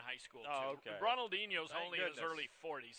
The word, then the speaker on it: Ronaldinho: I took the 7, Ronald Inho. Is that how we pronounce that?